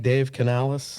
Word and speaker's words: Dave Canales: Dave Canales? Yes. Takes over for the Panthers. Yep. Wasn't sure if I was pronouncing that right.